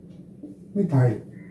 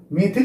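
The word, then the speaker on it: methyl: Alkyl group में इसको कैसे डिनोट करते हैं, आपका जैसे इसको बोलते हैं मिथाइल, मिथाइल है, मेथिल भी बोलते हैं, ठीक है ना। इसका प्रोनाउंसिएशन मिथाइल, मेथिल।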